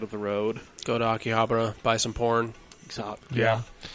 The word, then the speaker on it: Akihabara: I've heard it pronounced Akihabara. It's Akihabara.